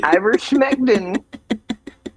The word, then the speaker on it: ivermectin: Does it rhyme with pectin at the end? It does. Does it really? Ivermectin.